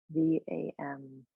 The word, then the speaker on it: Vam: The bija sound is Vam, V-A-M. And the A in Sanskrit is pronounced so it's Vam.